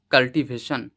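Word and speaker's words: cultivation: ল সি ইউএল কাল এক কথায় ওয়ার্ডটির কারেক্ট প্রোনাউন্সিয়েশন হলো কাল্টিভেশন কাল্টিভেশন so dear লার্নারস and students আজকের ভিডিওতে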